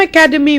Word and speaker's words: academy: From academy we have academic, and from academic we have academician. But notice, academy, the stress is on ca.